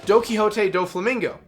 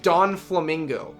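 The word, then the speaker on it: Donquixote Doflamingo: I always thought his name until I properly heard it pronounced, because I was always watching the sub before I started the dub. I thought his name was, like, Don Quixote, like, Don Flamingo.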